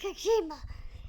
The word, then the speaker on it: Kojima: Next match was Jon Moxley versus Satoshi Kojima.